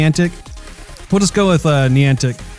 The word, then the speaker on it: Niantic: have reopened developer in that semantics - social pronounces Niantic corny antics put let's go with knee antic Niantic not on the Niantic will say about these